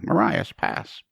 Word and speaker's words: Marias Pass: that just went off maras Mar I yeah Marias pass I was saying it wrong for years I